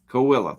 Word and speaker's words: Coahuila: And however you say that, Coahuila or something. Coahuila.